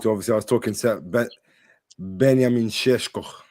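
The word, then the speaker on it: Benjamin Šeško: Obviously, I was talking Benamineshk. That's how you say his name properly.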